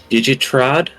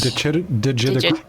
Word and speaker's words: digitigrade: With Digitrod is how you say it, legs? Digitigrade.